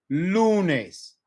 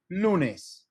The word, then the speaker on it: lunes: If it ends in N or S, we stress second to last syllable. So here, this one ends in S. So vamos a decir lunes, lunes. Lunes. We put more emphasis on the front end.